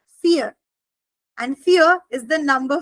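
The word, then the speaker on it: vier: read as ve but in German v i e r will actually be read as fear and fear is the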